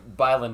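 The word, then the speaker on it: Bylund: And he said all the Mises Institute guys, Tom Woods started trying to pronounce his last name Bieland to get it closer to the actual Swedish pronunciation, and he said it just made it worse. So Byland is how he prefers Americans to announce it.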